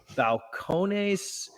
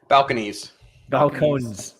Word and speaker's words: Balcones: Hey, today we are reviewing Balcones Brimstone Corn Whiskey.